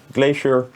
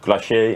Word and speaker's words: Glacier: Then we have the Glacier, or Glacier as proper pronunciation.